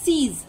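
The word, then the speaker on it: seize: firing করা বন্ধ করতে নেক্সট রয়েছে সিজ এও সেম প্রোনাউন্সিয়েশন এর মিনিংটা হচ্ছে জোর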